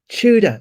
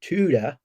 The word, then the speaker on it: Tudor: got so many comments people tell me it's pronounced chuda it's it's pronounced chuda not tuda i mean it's just it's just a pronunciation